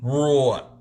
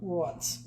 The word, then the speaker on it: wrought: Jeff Bell says, no, it's wrought iron. Wrought. Wrought. Bought, caught, taught.